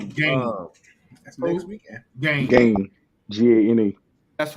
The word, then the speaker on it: Gane: Fighting Cyril Gane. Yeah. Gane, it's John Bones Jones. You pronounce it Gane?